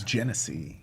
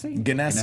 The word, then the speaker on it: Genesee: I've heard it pronounced Ganassi can SE I think it's a soft G so what's gonna see